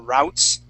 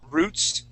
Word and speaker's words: route: or let's see yeah the Midwest uh um of the United States I think they they more say uh routes okay or sorry Roots instead of uh route okay um and that